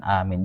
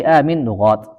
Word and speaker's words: Aamiin: banyak maka kita ucapkan Amin jangan malas-malas Wafi aminat Amin itu ada beberapa cara bacanya am jadi kata Syekh Bilal kalau di sanad kita itu BAC dua harakat aja sebenarnya itu amin amin nah gitu Udah paling